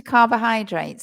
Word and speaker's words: carbohydrates: The middle syllable, O, we don't say O, we say carb. Carb, and then the other one is, many people want to say hydrates, but it's not, it's high, like hi, Craig, right?